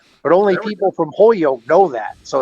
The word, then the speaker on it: Holyoke: Now, people from Holyoke don't say Holyoke; they say Hoyoke. So they almost take the L out. But only people from Holyoke know that.